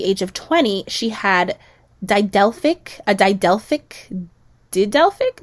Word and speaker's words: didelphic: that at the age of 20 she had didalfic a die delphic did delphic didalfic uterus i'm pretty sure i'm pronouncing it right if not it's very similar if you guys care how it's spelled it's d-i-d-e-l-p-h-i-c so she had a didelphic uterus um uh